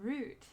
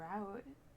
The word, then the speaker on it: route: I haven't heard of a root. Uh, at least when it comes to driving, but I've heard of a route. Mhm. Is that the same thing? It is. One of them is correct pronunciation.